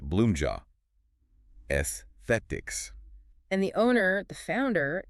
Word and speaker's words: Bloomja Aesthetics: We are diving into Bloomja Aesthetics, and that's pronounced Bloomja Esthetics.